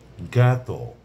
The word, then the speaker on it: জ্ঞাত: যেমন ধরুন জ্ঞাত অর্থাৎ আমার জানাশোনা আছে। আমার পরিচিত বা আমি এ বিষয়টা সম্পর্কে অবগত। জ্ঞাত জ ই আছে উচ্চারণ হচ্ছে গ এর মত।